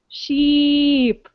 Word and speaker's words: sheep: heard sheep sheep so when i'm doing the e the double e like in sheep my mouth goes into a smile sheep but when i'm doing